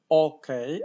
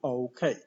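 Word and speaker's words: okay: Po polsku mamy płaskie samogłoski, więc mówimy okej, ale po angielsku okej.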